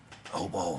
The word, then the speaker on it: Hobo: bit about a movie called OBO with a shotgun that's how you pronounce that as we were shooting